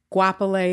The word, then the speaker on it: Goapele: a thousand different ways it's a South African name so guapolei is how I've been